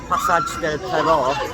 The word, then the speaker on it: Pasaje del Terror: originated, I believe, because Pasaje Del Terror, or Pasaje Del Terror, as I think it's pronounced officially, is actually Passage of Terror in Spanish.